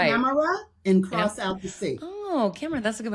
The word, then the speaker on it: Amara: Amra and cross out the sea.